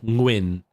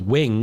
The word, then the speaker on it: Nguyen: But because Vietnamese uses the ng sound a lot more than you do in English. Like in sing, ng, that Nguyen, right? And so that's not an average noise in English. So when people read it, they can't comprehend, so they go with wing because their ear doesn't pick up the ng sound right before the wing, like the Nguyen.